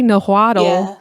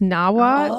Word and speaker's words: Nahuatl: pronounce so it's it's they say nahuatl but it's actually pronounced nawa and like so when